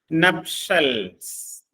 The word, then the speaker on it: nuptials: നപ്ഷൽസ്. അതിന്റെ ഉച്ചാരണം, അതിന്റെ സ്പെല്ലിംഗ് ശ്രദ്ധിക്കുക. NUPTIALS. നപ്ഷൽസ്. അതിന്റെ ഉച്ചാരണം നപ്ഷൽ എന്നാണ്.